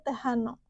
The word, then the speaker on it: Tejano: latin salah satunya yaitu musik tehano atau tulisannya tejano gitu ya cuman eh dibacanya tehano kalau kalian mau tahu